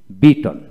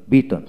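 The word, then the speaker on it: beaten: তারপর আসেন বিট বিট বিটন বিটন বিটেন না বিটন বিটন সঠিক উচ্চারণ বিটন তারপর আসেন ফ্রাই ফ্রাই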